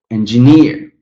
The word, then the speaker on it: engineer: Again, here the third example, engine, but engineer, engine, engineer.